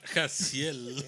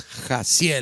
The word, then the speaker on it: Gessiel: No, but they did the Jaciel. Yeah, they did the echo. And it was Gessiel.